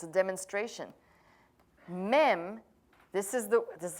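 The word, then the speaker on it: מ: men is this is wonderful it's a demonstration mem this is the this is how you spell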